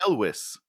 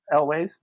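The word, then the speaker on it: Elwes: what why isn't this carrie ellis is that how you say his name elways yeah always why isn't this him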